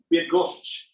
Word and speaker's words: Bydgoszcz: This is actually how it's said. Bydgoszcz. So there's a sh, which is fun, but you look at it and there's a CZ and then a ZH or something like that, or something going on there with the spelling.